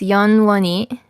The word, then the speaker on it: 영원히: So again, so in the first word, you see there's an H at the end. It's not pronounced like an H. It's more like a Y. So it's 영원히.